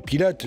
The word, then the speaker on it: Pilat: sûr de faire du pilates sur la dune du pilat même si le t2 pilar ne se prononcent pas et qu'on dit pied